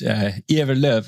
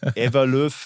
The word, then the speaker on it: Ewerlöf: Ewerlöf is the last name, how it's pronounced. Okay, yeah, it's for Germans, kind of you read Ewerlöf.